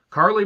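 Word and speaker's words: Carlie: go heal soon uh carly bravo i thought it was charlie bravo i've been mispronouncing it this whole time and i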